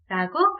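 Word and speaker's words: ge: 뭐냐면 해가 되는데요. 특이하죠? 네, 그냥 히읗 소리도 아니고 거친 히읗 소리로 해라고 발음을 해주셔야 되겠습니다. 사실 우리 스페인어에서는 영어의 지읒 소리가 다 히읗 소리로 대체된다 라고 보셔도 무방한데요.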